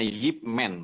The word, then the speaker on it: Ip Man: oh ya y ya karena dalam bahasa Mandarin IP itu dibacanya y Jadi itu nama orang bacanya Yip Man begitu Itu bukan tentangang